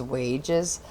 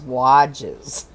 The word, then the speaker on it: Wages: always used mrs wadges i guess we've all been saying her name wrong i've always said mrs wages but i guess the correct way of saying it is mrs wadges so just so you